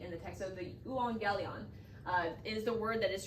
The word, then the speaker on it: euangelion: was worth it to actually put the pronunciation phonetically in the text. So the euangelion is the word that is translated the gospel. Now, if you're going to strictly translate it into English, euangelion means what?